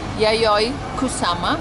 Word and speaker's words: Yayoi Kusama: C'è tanta gente qui a Boro Market ovviamente yayoi kusama Penso che spero che si pronuncia così il suo nome yayoi ero